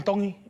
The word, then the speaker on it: Tongi: my name is IAM tongi and I'm from koku Hawaii iong tongy tongy you pronounce the T like a D in The tongy Cult